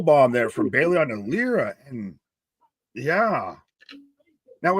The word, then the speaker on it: Lyra: Lyra's got, Bailey fights out of the powerbomb spot. Roll through kind of buckle bomb there from Bailey onto Lyra. And yeah. Now, is it Lyra or Lyra? Lyra.